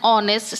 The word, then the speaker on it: honest: So that's why here the words start with a consonant, but it's spoken with a vowel sound.